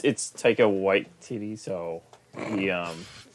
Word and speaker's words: Waititi: But like, it's Taika Waititi, so he not the best pronunciation. yeah, whatever. You called him Taika White Titty.